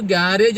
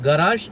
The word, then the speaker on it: garage: ആരാണ് ഈ ഗറാഷിയൻ നമുക്ക് ഗ്യാരേജ് എന്ന വാക്ക് നമുക്ക് എല്ലാവർക്കും അറിയാം പക്ഷേ ഗ്യാരേജിന്റെ ശരിയായ ഉച്ചാരണം ഗരാറാഷ് എന്നാണ് ഗരാജ് അല്ലെങ്കിൽ ഗരാജ് അപ്പൊ നല്ല രീതിയിലുള്ള ഒരു ഉച്ചാരണ വാക്കാണ് നമ്മൾ മലയാളത്തിലേക്ക് വന്നു കഴിഞ്ഞപ്പോഴേക്കും അത് ഗ്യാരേജ് ആക്കി മാറ്റിയത് അപ്പൊ ഗരാജ് ആയിട്ട് ബന്ധപ്പെട്ട്